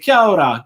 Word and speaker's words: Kia ora: But thank you, Glenn, for confirming how to pronounce it. Sajid says, Kia ora, kia ora.